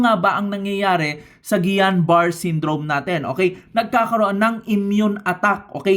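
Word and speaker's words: Guillain-Barré: Okay, next na pag-uusapan natin is your Gianbar syndrome. It's not Gilenbar syndrome. It pronounce as Gian Bar syndrome.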